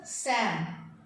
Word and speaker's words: psalm: P and L are silent, so it is pronounced as Sam.